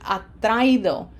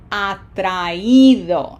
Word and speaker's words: atraído: By putting an accent on the I, which makes it a strong vowel, and it separates it then from the A, and so we end up with atraído, and that sounds like vivido, sentido, comido, querido, atraído.